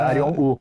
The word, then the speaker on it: Arion Wu: falar do teu trabalho, né, quem é você, Arion Wu, é assim que pronuncia? Isso, é assim que se pronuncia, Arion Wu.